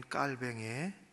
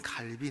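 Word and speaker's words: 칼뱅: 이것은 특별히 개혁교회 전통인 깔뱅의 좋은 자한 깔뱅 좋은 갈빈 있니다 본명이 우리는 요즘에는 본명 대로 어 부르기 때문에 영어식 발음이 아니라 프랑스식 발음을 하게 되지 그런 특별히 죽는 순간까지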